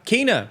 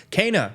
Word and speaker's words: Kena: little bit late but today we're talking about kina bridge of spirits or i actually learned it's pronounced cana bridge of spirits after playing the game uh